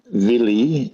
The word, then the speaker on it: Vili: There's Odin, then his brother's called Vili, V-I-L-I, and then Vjay, which is V and an E with a sort of an accent on the top.